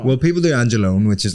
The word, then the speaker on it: Angelone: Is it pronounced Angelone?